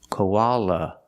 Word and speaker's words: koala: The last A is pronounced with the relaxed sound, like cup and up. Koala, koala. When we link the O and the ah, koa, we have the w sound in the middle. Koa. Linking the sounds like a W sound. Koa. Koala. This is a koala.